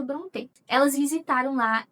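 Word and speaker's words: Brontë: E foi exatamente nesse vídeo que elas pronunciaram bronê. Então eu acho que a pronúncia correta seja bronê.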